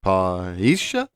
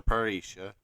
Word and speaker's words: parrhêsia: I don't know much Greek, but in English it looks like you pronounce it parrhêsia.